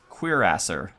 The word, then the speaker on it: cuirassier: Oh, by the way, I learned how to pronounce the horseman. It's cuirassier, which, yeah, believe it or not.